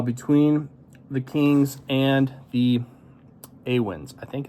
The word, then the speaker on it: Awen: the Kings and the Awins. I think it's Awins. I asked Robbie. It was a long time ago and it is late at night. So I think it's pronounced Awin.